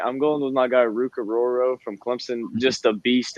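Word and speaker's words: Orhorhoro: Rook Aroro.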